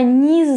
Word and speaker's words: не: The particle не will not be stressed. So the pronunciation will change, and I'm gonna say it in a weak way. So it will be я не знаю.